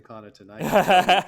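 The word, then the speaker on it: Connaughton: was going to say i have friends with the last name connor tonight that's how it's pronounced i don't know why i'm seeing uh i don't know trying to do like a german thing with the gh there but anyway so essentially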